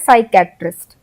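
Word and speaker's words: psychiatrist: piece Ireland है इसमें साइक के साइकैटरिस्ट तो हमने पी तो लिखा है स्टार्टिंग में लेकिन हम पी को उच्चारण में नहीं ले रहे हैं हम एफ से उच्चारण शुरू करें हम बोल रहे हैं साइकैटरिस्ट हम पी का उसे इसमें उच्चारण में कहानी भी नहीं कर रहे हैं लेकिन जब हम स्पेलिंग लिख रहे हैं तो हम पी उसे कर रहे हैं फिर टी साइलेंट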